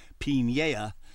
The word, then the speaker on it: Piniella: immigrants like the Piniellas, yes, that's the correct pronunciation, Piniella, did with what they had.